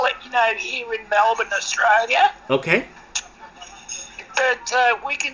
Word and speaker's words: Melbourne: And okay, so it's pronounced Melbourne.